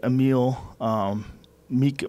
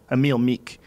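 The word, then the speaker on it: Emil Meek: some tough guys like a meal meek meal a meal meek sorry I'm saying his name wrong Amil meek the mad Viking dude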